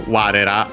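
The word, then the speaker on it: われ: So yeah, for example, warera as we technically. Ware accent on the first mora, so yeah, it keeps that also when we had ra.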